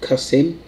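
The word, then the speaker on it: Qasim: a stone for stone quasim is pronounced cuss him he's certainly been cussed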